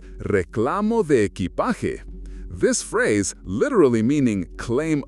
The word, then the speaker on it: reclamo de equipaje: Instead, follow the signs for Reclamo de equipaje, pronounced Reclamo de equipaje.